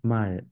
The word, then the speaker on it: 말: It takes on an L sound. It does not take on an R sound. You cannot pronounce this as mar. Mar. It's mar. Mal.